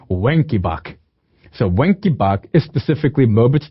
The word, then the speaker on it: Wenckebach: From henceforth, if you want to pronounce one as Wen, why not? Because this brings us to Wenckebach.